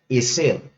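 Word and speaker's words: עזר: La palabra que se utilizó allí por ayuda es la palabra hebrea eser.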